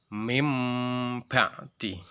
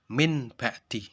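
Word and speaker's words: من بعد: Contoh seperti lafadz mim ba'di, mim ba'di. Ada non sukun, non mati bertemu dengan ba. Bacanya mim ba'di. Tidak dibaca min ba'di. Kalau dibaca min ba'di itu salah. Yang benar itu mim ba'di.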